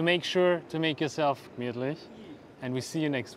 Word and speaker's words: gemütlich: Now in German it's usually gemütlich, which means comfortable. But in Vienna we say gemütlich.